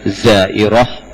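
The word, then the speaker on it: زائرة: zairatun pakaibutah tak bulat kalau zairah pakai tak bulat dibacanya jadi ha zairah kalau banyak Zair ya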